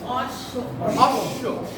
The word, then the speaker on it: অশ্ব: অশ্ব। কি হবে? অশ্ব। অশ্ব মানে কি? ঘোড়া। কি হবে? অশ্ব। তার মানে এই যে শেষে আসছে বফলা, এটার উচ্চারণটা কয়বার হলো? দুইবার। দুইবার হলো।